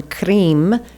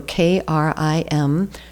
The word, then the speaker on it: Krim: And then the last one, Krim, so K-R-I-M. So the K, that is an initiatory sound. It's a hard consonant, and it's one of the strongest sounds, so it creates a very strong seed syllable, usually associated with Kali, sometimes with Shiva.